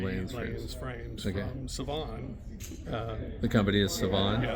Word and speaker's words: Civan: from Savan. The company is Savan. Yeah, they're out of Turkey. Okay. I actually pronounce it Jiwan.